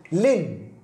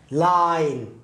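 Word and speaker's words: line: ومثل أيضا كلمات مثلا هذه الكلمة لين، لكن إذا ما جاء الإي بسبب الإي آي يعني تطبق الشرط آي ثم إي آي ثم إي فتصبح لاي يعني ينطق الآي كما هو لاين.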